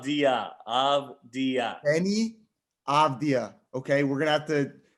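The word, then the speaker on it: Avdija: avija thanks so much yeah what it's denny abdia abdia okay we are a very pro draft danny avidia however you want to say his last name what of dia of the uh any abdia okay we're gonna have to figure out a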